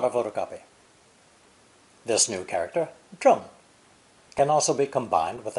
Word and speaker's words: 正: It's pronounced fourth tone, zheng.